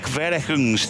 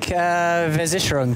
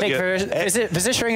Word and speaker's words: Versicherung: I can't even pronounce that. Klick Verechungs team. You speak German, David. How do I pronounce that? Oh God, here we go. You put me on the Klick Versicherung team.